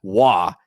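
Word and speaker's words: Waugh: Wah. And I'm not saying it's not spelled Wah as in R o y. It's spelled w a u g h. His name is fip wah.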